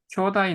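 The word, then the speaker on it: 兄弟: 지분노 교다이 나라 마다시. 예예예. 교다이라고 읽는 게 좋습니다.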